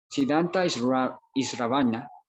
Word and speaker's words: Siddhanta Shravana: Siddhanta Isravana, así se pronuncia, es estudiar las escrituras sagradas, estudiar la